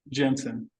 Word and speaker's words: Jensen: Jensen.